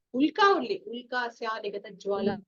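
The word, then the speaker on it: उल्का: Ma'am, the pronunciation, it is Ulka or Ulkya. Ya is Ulka. No, yeah. Ulka only.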